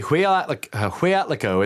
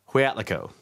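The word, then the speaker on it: Hueyatlaco: The Huyatlaco, it's very difficult to say. It's spelled H-U-E-Y-A-T-L-A-C-O. Huyatlaco.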